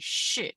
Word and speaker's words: 是: Now, SHI is 吃，吃，吃。Let's repeat after me，吃，吃。Now, SHI with the fourth tone, how do you pronounce it? Remember, like angry, 是, very good.